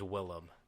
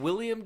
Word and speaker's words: Willem: You said William Dafoe in the Yeah. beginning, and I said his name's not William Dafoe. His name's Willem Dafoe.